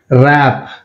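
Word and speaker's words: wrap: ర్యాప్, ర్యాప్ W silent.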